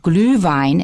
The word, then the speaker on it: Glühwein: It's called Glühwein, and we use the word in English. Just in case you're interested, it's spelled capital G-L, U with 2 dots, umlaut,